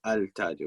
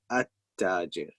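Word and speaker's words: التاجر: Okay, so even though it's written al-tajir, but we didn't say al-tajir, we said at-tajir.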